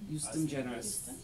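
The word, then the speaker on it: ejusdem generis: So you normally would see this used in agriculture, Pronunciation. justum generis.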